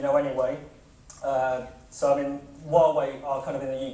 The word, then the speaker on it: Huawei: and honor and that's the right way of pronouncing while we're actually so it is Huawei uh so I mean with Huawei the business